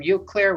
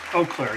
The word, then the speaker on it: Eau Claire: are you doing today it's eau claire right oh claire yeah okay sorry you player doesn't